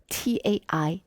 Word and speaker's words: Taijiquan: When you put out on the internet this art that we do, Taiji, you have to spell it out as T-A-I space C-H-I. Not T-A-I-J-I or T-A-I-J-I-Q-U-A-N.